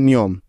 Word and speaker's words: know: এখানেও প্রতিটি উদাহরণে এন এর আগে কে আছে, তাই এগুলোতে কে সাইলেন্ট বা উজ্জ্ব আছে।